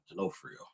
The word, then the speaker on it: D'Onofrio: Uh D'Onofrio. D'Onofrio?